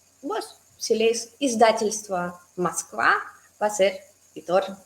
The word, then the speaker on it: Издательство: Aquí también es bastante difícil pronunciar las z, d juntos. No es diccionario, es la empresa que imprime libros, ¿sí? Издательство. Entonces, de verdad tenemos que practicar la z, luego la d y luego izda.